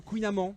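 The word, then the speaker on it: kouign-amann: le kouign amann le kouign aman normalement ça se prononce de kouign aman le kouign aman mais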